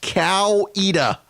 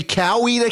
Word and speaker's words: Coweta: chi no no no it is it is pronounced cow EDA say cow either County or they know you're a Yankee okay